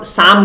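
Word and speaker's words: psalm: इसको हम साम कहते हैं, सैम. इसका प्रोनाउंसिएशन क्या होता है? पी साइलेंट होता है, और सैल्म को हम लोग साम इस तरीके से हम प्रोनाउंस करते हैं इसे हम कह सकते हैं सैक्रेड सॉन्ग.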